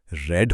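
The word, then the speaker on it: read: रीड की spelling तीनों forms में सेम रहती है। पर इसकी थर्ड फॉर्म का प्रोनाउन्सिएशन रेड होता है। जैसे रंग का नाम।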